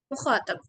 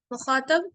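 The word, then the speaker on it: مخاطَب: और उसके बाद आता है मुखातब। मुखातब सब, इसको, इस वर्ड को बहुत सारे लोग मुखातिब प्रोनाउंस करते हैं, जो कि गलत है।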